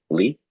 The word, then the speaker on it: Ly: I think it's pronounced Lee? It's Lee, Lee.